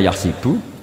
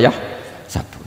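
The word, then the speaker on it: يحسب: Karena dalam qiraah sab'ah ada yang baca yahsibu, qiraah kita baca yahsabu. Tapi guru-guru kita kalau ngajar fikih itu bacanya yahsibu. Tapi kalau baca Quran yahsabu.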